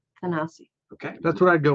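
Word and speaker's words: Thanasi: name how would you say his first name tanasi okay that's what I go with too that's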